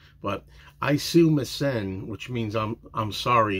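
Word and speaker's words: Aisumasen: the best I can I kind of pronounce it like John does and even it's even been said that he's not pronouncing it right but isum missen which means I'm I'm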